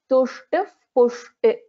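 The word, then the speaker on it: तुष्टिः पुष्टिः: So whenever there is Pa or Pa after Visarga, so it gets replaced by Upadhmaniya. So we will pronounce this as Tushtif Pushtir Matir Dhritihi.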